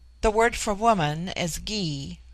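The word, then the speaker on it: Gy: word for woman is Gee pronounced hard as in guy it forms itself into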